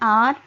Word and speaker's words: hour: And in the example like an hour, an honest man, here we have used it before a word with H because here H is not pronounced, we pronounce it as an R.